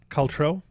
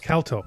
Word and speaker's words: Calto: Caltro. Did I say it right? Calto. You're close. Calto.